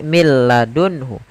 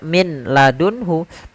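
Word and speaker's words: مِن لَّدُنْهُ: Contoh di sini mil ladunhu. Tidak dibaca min ladunhu, tapi langsung ke huruf lam. Karena nunnya dianggap tidak ada dan diidghamkan ke huruf lam. Maka mil ladunhu. Mil ladunhu, langsung saja.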